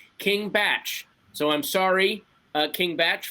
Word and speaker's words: King Bach: I am being told by Twitter that King Bach's name is pronounced King Batch.